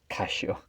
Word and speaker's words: Casio: dial and i wish casho cashio actually that's the correct way to pronounce cassio iscacio in japanese i wish cassio brings